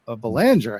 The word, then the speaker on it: Belanger: And it's a shot to Belanger has it. I always think it's going to be. I'm always trying to do the hockey pronunciation, but so they get out of that.